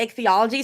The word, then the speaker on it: ichthyology: I feel like ichthyology makes more walk into the ichthyology section and ask the workers to let us see the sharks.